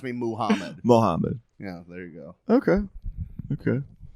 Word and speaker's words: Mohammad: It's Mohammed or Muhammad.